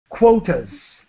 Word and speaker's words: quotas: what are the cotas quotas so it the qu has the KW sound quo quotas quotas okay